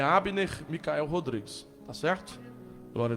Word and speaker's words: Abner: Só colocar lá, pregador Abner Micael, o B é mudo, A-B-N-E-R.